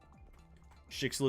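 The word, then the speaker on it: Schicksal: Schixel is the pronunciation. Yeah, I'm just gonna keep on saying Skitzel because I can.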